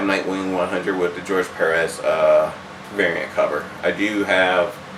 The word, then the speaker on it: Perez: It's George Perez.